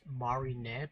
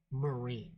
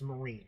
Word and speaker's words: Marine: I always pronounced her name back then as Marinette because you know it was Japanese so like you pronounce all the syllables but her name is actually marine that's how they have it when you see